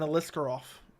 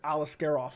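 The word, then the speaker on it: Aliskerov: and that's correct and alisker off it's alasker off he said alisker off but it's alasker off that's how John annik pronounces him so I'm assuming that's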